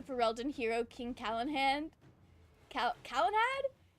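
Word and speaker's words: Calenhad: Cal Kalanad. I think I've been reading his name wrong this whole time. I really thought his name was Kalen Hand like H A N D.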